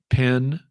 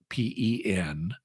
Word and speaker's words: pen: same in different regions like one is uh here in my part of the south at least pen pen and pin p i n are pronounced the same and so um so